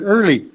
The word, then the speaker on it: early: earl early so um the a is silent so it's just er li yeah uh early so that's